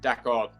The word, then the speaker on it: d'accord: accent of course yeah d'accord that's how you say it in French so you find that